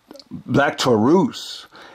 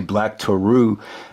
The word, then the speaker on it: Black Taurus: against uh black to Black Taurus and uh commandir so it's not black Taurus I.E pronounce it actually black tarou and uh commandir uh